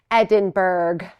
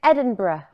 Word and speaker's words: Edinburgh: who are like us you may be tempted to read this word here on the sweatshirt and say Edinburg Edinburg but we don't say it like that nope now you know the official way to say it and if you're confused it is Edinburgh it's a little bit soft on the end but if it feels